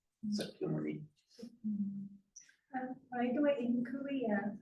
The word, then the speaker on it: Sakyamuni: Sakyamuni. Sakya was the name of his clan. In Sanskrit, Shakya. Pali is never Sakyamuni.